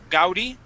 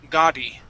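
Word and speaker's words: Gaudí: Now, this word here, the A-U in the middle there, we would not say gau, gaudi. The word is ga, gaudi, gaudi.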